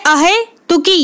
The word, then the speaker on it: अहेतुकी: ठीक है, अहेतुकी या अहेतुकी, इसको ऐसे प्रोनाउंस करें अहेतुकी, ए बड़ा ए आएगा। ठीक है, और ता पे छोटे ऊ की मात्रा।